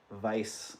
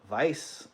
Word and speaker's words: Weiss: You can't pronounce the W. Vice. Oh, there you go, Heidi. I could see that. All right, Heidi's in at 35. Vice.